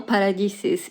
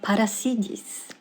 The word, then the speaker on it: Paradis: sula's last name wrong it's not Sula paradisis it's Sula Paris as a content creator